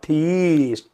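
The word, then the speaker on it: theist: वन who believes in गॉड is called थीस्ट।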